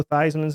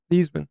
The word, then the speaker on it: Theismann: Did you know that the actual way to pronounce Joe Theismann's name? Yeah, Theismann. Theismann. Do you know why he changed it? Heisman Trophy. Okay. You knew the answer. Yes, He I changed did. his name because of the Heisman Trophy.